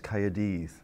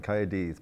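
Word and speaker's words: Caerdydd: well Oh Cardiff well the Welsh is coyotes that's a lot of spitting going on coyotes but I would just say Cardiff yeah okay and what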